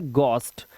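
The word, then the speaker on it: ghost: letter silent होते हैं अब देखिए यहां पर हमारा एच साइलेंट है जैसे वर्ड देखिए हमारे सामने लिखा हुआ है गॉस्ट इसको पढ़ते हैं गोस्ट गोस्ट मतलब भूत ऐसे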